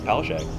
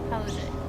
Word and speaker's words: Palaszczuk: I think it's Palaszczuk. Palaszczuk. That sounds about Anna right. Palaszczuk. It's Polish.